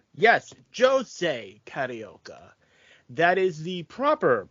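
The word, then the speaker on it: José Carioca: to ignore it but Jose is the Portuguese pronunciation and he is Brazilian and he does speak Portuguese Pito is Mexican he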